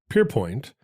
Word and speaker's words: Pierrepoint: today's episode Albert perpoint also has a name that could be pronounced a lot of different ways Alber pan he is not French however well it's a pretty Frenchy name it it's very French considering he's British born and bred I'm not 100% sure